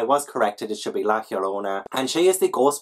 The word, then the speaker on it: La Llorona: Sorry, I was pronouncing things so terribly in my September TBR. But I was corrected, it should be La Llorona.